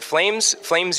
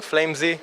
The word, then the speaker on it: Flamez: Flamez was the original thing. Flamez was like in Israel how people used to pronounce it, and now myself I pronounce it till to this day Flamez.